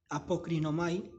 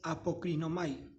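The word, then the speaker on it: ἀποκρίνομαι: primera palabra del versículo en este caso es apocrinomay así se traduce esta se pronuncia esta palabra griega que se traduce por respondió esta palabra griega respondió es en griego es apocrinomay apocrino May Ok entonces esta primera palabra apocrinomae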